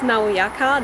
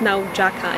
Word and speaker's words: Nauyaca: no jaka false waterfalls we thought it was pronounced naoyaka that's how it would be pronounced in english but then our host character doesn't say it's now jakka in spanish so yeah we're going